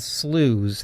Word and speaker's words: sloughs: These are called sloughs. That's how you pronounce it.